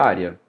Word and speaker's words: área: Mas vamos ver a área. Área, paroxítona, ó, está aí na penúltima sílaba, terminada em quê? Ditongo.